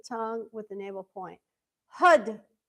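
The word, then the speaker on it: Har: Hud. Hud. So, we say it like it is h a r, but we say it like h u d.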